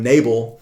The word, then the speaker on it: Nabal: fool now this word for full the word nabal uh might sound familiar to us because it's actually guy's name from first samuel chapter 25 the the wicked man uh we pronounced his name nabel he was a a very stubborn man he